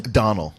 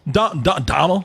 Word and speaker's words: Domhnall: You have Domhnall Gleeson. How do you say his name? Donald. Donald? Yeah. Okay. God damn, just spell Donald then. Yeah, these Gaelic names.